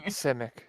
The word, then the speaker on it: Simic: Seismic? Sismic? Simic? Out of character, I can never remember how to actually pronounce it. She will just Simic. say Simic. Yes, Simic yes, Simic.